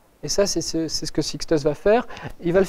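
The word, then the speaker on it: 6TiSCH: Ceci, Sixtus, ça se prononce.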